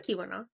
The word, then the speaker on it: Keweenaw: It is Keweenaw. Yeah, but the way that I say it and the way that it's spelled just doesn't, in my brain, it's like I should say all of these E's at the same time.